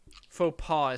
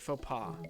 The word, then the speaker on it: faux pas: sliding right on in faux pas is how you pronounce that yeah i've seen it before and i know it's pronounced weird faux pas yeah i love food